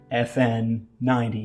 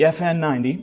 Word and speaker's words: FN90: you'll see is the FN90. It's spelled E-F-F-E-N. You see what they did there? Haha, funny. But the FN90.